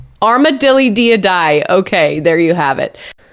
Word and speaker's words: Armadillidiidae: Here's how you pronounce what they're technically called. Armadillidiidae. Armadillidiidae.